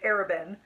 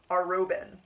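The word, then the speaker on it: Arobynn: Well, I've been spending 2 books pronouncing it Arabin, and apparently it's Arobin.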